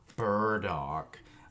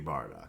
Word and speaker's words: Bardock: our boy bardock or burdock it's going to be bardock it's always going to be bardock just like krillin i don't pronounce them any other way so take that um